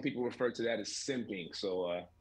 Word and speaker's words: simpin: Simpin, you said it right.